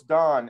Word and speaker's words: Dan: He said, how do you pronounce it? And we said Dan. And he said, no, it's Don.